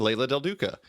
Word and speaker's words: Leila del Duca: It's Joe Keatinge and Leila del Duca. Wait, did I pronounce that right, Leila?